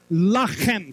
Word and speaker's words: Lechem: Lechem can also be pronounced as Lachem.